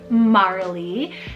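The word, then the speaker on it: Marlee: incorporation for both of them Marley small m-a-r-l-e-e Marley this one's really sweet it means marshy Meadow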